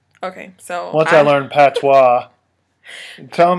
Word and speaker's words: Patois: I think he spelled it P A T W A or W A W S. W A W. Something weird. It's P A T O I S.